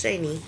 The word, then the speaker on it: Shany: And I pronounce it Shany because it has the Y. Because it could be shit, but Shayna would be a A. So it's Shany.